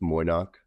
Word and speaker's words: Moy'noq: Yeah, we just we say it phonetically. It's just Moch.